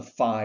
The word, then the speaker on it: phi: That's called the phi or the phi phenomenon, depending on who pronounces it, PHI.